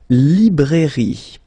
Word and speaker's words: librairie: Then, la librairie. Okay, remember, I here, li. Librairie, final E, not pronounced.